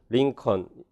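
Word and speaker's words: Lincoln: 2번에 자음이 두 개 앞에 나오면 슈아를 넣어줘서 실라빅 네이절이 안 된다. 피스턴이라고 하지. 피스튼 안 그러고요. 링컨 이렇게 슈아 있는 발음으로 해줍니다.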